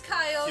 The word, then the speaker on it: Kyogre: It's the same one, just different pronunciation. It's actually pronounced the Kyogre. The whale blue thing? It's Kyogre.